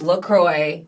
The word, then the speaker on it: LaCroix: yeah that's like it's Lacroix because it's French but I went on their website and it said it's Lacroix like it rhymes like enjoy literally said that so